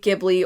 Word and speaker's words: Ghibli: with books but with the Giblly or Ghibli depending on how you say it.